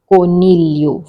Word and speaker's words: coniglio: Rabbit, coniglio. For rabbit, Italian word is coniglio. G is silent.